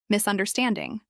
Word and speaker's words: misunderstanding: Misunderstanding. This is pronounced with 4 syllables and stress on stand.